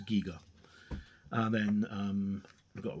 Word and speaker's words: Giger: Very inspired by H.R. Giger, or Giga, depending on how you want to pronounce it. I'm positive that I heard him in an interview. He said that it was Giga.